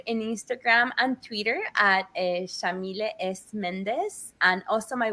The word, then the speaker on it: Yamile: he named me so Shamil is an Arabic name pronounced with an Argentine accent we say they white like an sh and then Sayed is